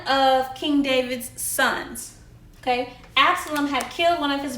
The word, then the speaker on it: Absalom: Okay, so Absalom, which is pronounced Ab-sa-lum, okay, was one of King David's sons. Okay, Absalom had killed one of his brothers over a serious family problem.